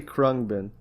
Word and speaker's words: Khruangbin: I'm gonna say Khruangbin. All right, because I feel like that's pretty close. If it's not completely correct, Khruangbin is the Thai word for airplane. It's not spelled with English letters, of course, but that's how you would say it phonetically, and that's how